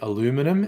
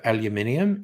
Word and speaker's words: aluminium: black metal heart uh americans saying aluminum instead of aluminium is just weird but i'm with abigail